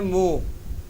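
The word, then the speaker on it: mho: inverse क्या है और इसका नाम है मो ओम की स्पेलिंग क्या होती है ओ हा एम क्या मुंह उल्टा होता है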